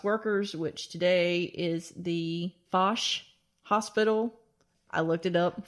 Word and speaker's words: Foch: Yeah, in the construction of a hospital for middle class workers, which today is the Foch Hospital.